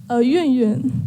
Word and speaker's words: Yun Yun: Yun Yun. Yun? Yun Yun. Yeah, you need to say it like you are dropping something on the ground, like Yun Yun.